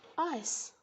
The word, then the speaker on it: ice: спробуйте прочитати все слово згадаємо що буква і міняє літеру I і вона читається як в алфавіті а й тобто Ми вже знаємо що ця літера читається I а буква сі яка читалася як к тепер перетворюється правильно все і виходить Ice які ж в молоці